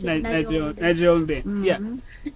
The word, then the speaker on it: Nachombe: relax and pronounce it Nachombe.